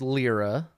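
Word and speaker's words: Lliira: I mean you know it's pronounced lira lira lira lira yeah oh this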